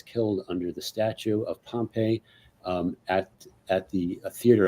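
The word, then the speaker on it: Pompey: uh he was assassinated in the theater of Pompeii or actually it's pronounced uh Pompeii what yes he was assassinated in in a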